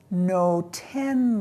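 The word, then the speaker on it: נותן: Al ha'adama asher Adonai Elohecha noten lach. Do you recognize natan, the verb natan, which means to give? But listen, noten. That's the sound of the participle.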